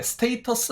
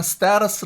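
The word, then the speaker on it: status: 스 란 단어가 있는데 스테이터스 다고 읽어도 되지만 스페아 라스 라고 읽으시면 더 좋은 발음이 될 수 있습니다 그래서 지위가 중요한데요 이게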